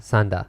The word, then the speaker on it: Sanda: Yeah, not Mita, Sanda. Sanda. Same kanji, different pronunciation.